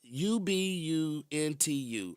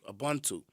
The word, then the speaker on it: Ubuntu: It's Ubuntu, Ubuntu. And it's a Zulu pronunciation, but it's a philosophy.